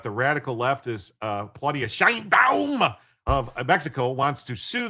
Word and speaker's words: Sheinbaum: And do you realize Claudia Shine Bomb is a Shine Bomb? You have to say IT RIGHT. SHINE BOMB.